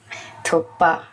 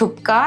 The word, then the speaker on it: Thukpa: एट the same time it's नॉट थुक्का इट्स थुक पा थुक्का it's spelling वैसा है ना बट प्रोनाउंसिएशन है वो वो थोड़ा सा वैसा है ना थुप्पा है ना मतलब के जो है वो साइलेंट है ना नहीं इट्स थुप्पा ओनली